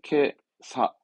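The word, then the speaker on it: 今朝: 오늘 아침 발음은 케사.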